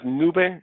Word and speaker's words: Noobeh: remove contact what does nube means is the phonetic pronunciation of the word nube which means in Latin and